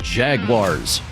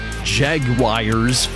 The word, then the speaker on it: Jaguars: The NFL team in Jacksonville, it's pronounced Jaguars. Jaguars, not Jaguars. There's no I in Jaguars.